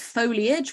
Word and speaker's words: foliage: The word is foliage, which actually has an A. Should be spelled like that. Foliage. Foliage. Think about it like age.